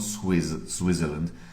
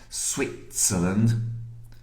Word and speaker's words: Switzerland: Okay, and again, careful with the pronunciation here. Switzerland is not Switzerland. Switzerland. And Swiss, not Swiss. Swiss. Maybe it's Swiss after you had a glass of wine.